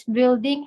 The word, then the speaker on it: building: U-nya dibaca ya? Iya, Iya, building. yang benar nggak usah dibaca ya.